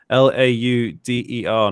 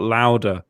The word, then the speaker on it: Lauder: and at ej lauder l-a-u-d-e-r not louder it's lauder we're talking about how to say things uh and where can we carter ladder at least america americans do say it right i've never heard an